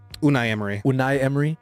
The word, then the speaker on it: Unai Emery: Unai Emery? Unai Emery.